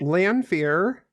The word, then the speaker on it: Lanfear: Lanfear. Yeah. Camille, how do you say hell in French? Enfer. Yes, I know that one. It's l'enfer. It's l'enfer basically combined with the English word for fear.